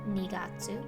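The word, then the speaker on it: 二月: january you can form the other months similarly nigatsu for february for march etc so hopefully seeing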